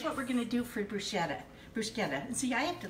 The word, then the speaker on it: bruschetta: and it's not called bruschetta it's called bruschetta bruschetta so in Italian the CH is actually pronounced with a hard K so it's never soft it's like so we're